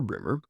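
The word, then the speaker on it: Breamore: It is remote from the villages, but it is best approached from Bremer, pronounced Bremer or Brimmer, which is on the main road from Fording Bridge to Salisbury.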